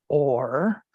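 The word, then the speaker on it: Ohr: And that is the word or, pronounced or, O-H-R, or, in the Hebrew.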